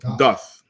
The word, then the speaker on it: doth: Is it doth or doth? Doth. Like do or does, like doth.